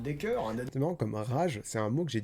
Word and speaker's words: Rage: dans mon retour sur Rage de Stephen King que je prononce à l'américaine, hein, parce que si rage, moi ça m'évoque une rage dedans et c'est pas le sujet.